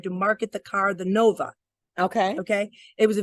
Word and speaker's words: Nova: behind it but Nova you break that into two syllables no but the VA in Spanish is like ba these are like ba right so Nova Nova hey